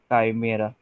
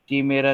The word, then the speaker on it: काइमेरा: This is called as chimeric काइमेरा। ठीक है, ठीक है, प्रोनाउंसिएशन आप चेक कर लेना एक बार, कीमेरा नहीं है, काइमेरा है, ठीक है?